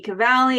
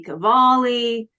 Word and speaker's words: Cavalli: It can be Cavalli, it can be Cavalli. Either's good.